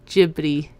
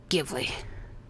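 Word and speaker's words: Ghibli: It doesn't make grammatical sense to say Gibbi when there's a G and an H. It's Gibly. Hard G.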